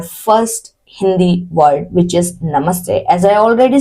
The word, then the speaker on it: namaste: Let's break down the pronunciation. It says na, ma, sa, te. One more. Na, ma, sa, te. Namaste. Namaste.